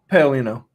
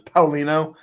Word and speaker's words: Paolino: Paleolino. Paleolino. Okay. Well, I say it as Paleolino. If you're Italian, you say it as Palino, but I only do it that way when I'm ordering from an Italian restaurant.